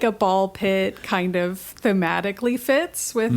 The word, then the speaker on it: Ball X Pit: This is more of an anime styling, that you don't say the X, you just The say X the is two silent, words. as it often is. Yeah, and like a ball pit kind of thematically fits